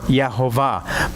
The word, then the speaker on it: Jehovah: okay and nothing else the dot above the vob is an o oh in the vowel how would you pronounce that Jehovah that's why that's why we get Jehovah all right or yahova but you got to